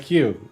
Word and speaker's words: queue: gradually became good friends the word q is ironic just q with a bunch of silent letters waiting online makes you